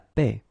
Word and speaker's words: paix: Le taxi, la boxe, le saxophone, la toux, la paix. Attention, X final non prononcé. Le taxi, la boxe, le saxophone, la toux, la paix.